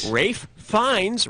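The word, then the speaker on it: Ralph Fiennes: that would be safe rafe finds rhymes with safe pines yeah he was great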